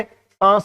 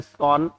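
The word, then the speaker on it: sans: देखो ये सांस नहीं है, ये सैंस नहीं है, ठीक। इसका प्रोनाउंसिएशन होता है सॉन और इसका मतलब होता है विदाउट, बिना, बगैर, ठीक है।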